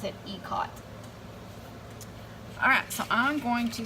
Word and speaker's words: Ikat: And I had to look up how to pronounce that, because I always thought it was Ikat, but once I looked it up, I figured out that it is actually, you pronounce it Ikat.